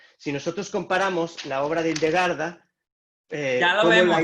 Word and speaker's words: Hildegarda: Sí, entonces entiendo que lo que quiere resaltar es que Hildegarda, ¿sí lo pronuncio bien? Hildegarda, claro.